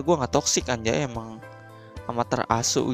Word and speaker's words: Amaterasu: Amaterasu gitu bacanya, tulisannya juga Amaterasu.